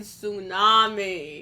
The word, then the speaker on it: tsunami: why is there in tsunami the tea is silent you know but why